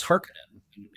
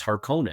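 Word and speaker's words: Harkonnen: of importance to hear how Frank pronounced it. And my biggest shock was like right away, he says, "Hark-a-nin," we had all seen the David Lynch movie over and over again. And it was "Hark-cone-an." And I went, “Wait, wait a second, that's … Frank's pronouncing it wrong.”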